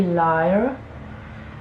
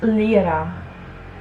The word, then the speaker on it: Lira: sure how to pronounce i will say liar but it's lira in italian this orange coppery shade